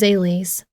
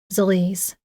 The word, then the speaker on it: Zales: Her name is Zales, or as I am now pronouncing it, Zalise. When I first created her, Zales was how I intended her name to be said. Then one of my readers mentioned she'd always read it as Zalise, and honestly, I like that better.